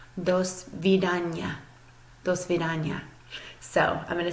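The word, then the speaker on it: до свидания: as you would think you would pronounce this dosvedanya dosvedanya so I'm gonna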